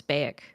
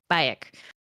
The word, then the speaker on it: Bayek: He says, Origins is the only Assassin's Creed I have done to completion due to your performance as I keep mispronouncing this. Bayek, yeah. Bayek.